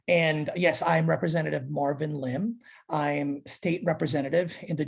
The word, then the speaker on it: Lim: Am I pronouncing the last name correctly? Is it Lim?